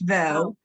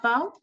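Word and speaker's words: בו: It's vo. Vo, Vo. Vo, not Bo? This is a vet.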